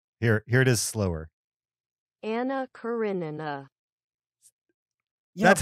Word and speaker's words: Karenina: karenina anna karenina yeah it's the knee the knee gives you the it's called it's like a diphthong and there's no y in that pronunciation well of course it's not a y there is the i but the i gives you the slides into the a and that's where you get the y from this guy is not